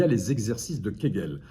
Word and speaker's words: Kegel: a les exercices de Kegel alors quegel ça s'écrit avec un K un e un G un nœud encore et un L qui est gel alors ce sont des